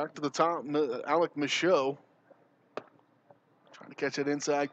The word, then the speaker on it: Michaud: M-I-C-H-A-U-D, Michaud. That's how I spell it.